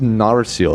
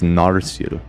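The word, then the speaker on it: Narsil: So, it's just Narcil. I was saying it wrong. It's Narcil.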